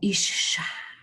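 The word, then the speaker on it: אִשָּׁה: La Vulgata lo traduce como Isha, que era el femenino de Ish. Fíjense qué bonito, ¿eh? La pronunciación original era Isha y el femenino era, Isha era el femenino y Ish era el masculino.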